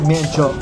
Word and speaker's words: miến trộn: Is it miến trộn? Zip miên trộn.